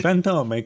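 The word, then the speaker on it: Fantôme: Fantome, kind of a YouTube Italian. You have to. It's French.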